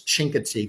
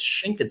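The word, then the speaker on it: Chincoteague: two covers um the shinka and hopefully I pronounce that right I always thought it was chinka but somebody told me recently they said no it's shinka shink yeah okay so good thank you for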